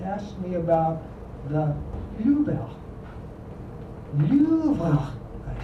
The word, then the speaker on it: Louvre: Every young man of the world who visits Paris should see Le Louvre. I gave it a very French pronunciation with a raspy R in the rear of my throat, and he looked dubious.